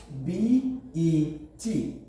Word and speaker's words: bet: c like we have b e t b and you pronounce the word will not be beat it will rather be pronounced as bet consider this m e